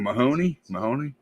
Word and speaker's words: Mahoney: So, and her father, of course, plays James Court, and John Mahoney. That's how you say his name? Yeah. That's her father. That's how you pronounce his name. It's like Tim Mahoney.